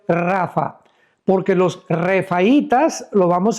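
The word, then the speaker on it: Rapha: R de Raúl, A de Armando, P de Pedro, H intermedia, A de Armando, Rapa. Pero se pronuncia en el hebreo Rafa, porque los refaitas, lo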